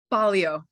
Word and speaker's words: Baglio: And Joy, you pronounced your name Baglio? Is that correct? Baglio.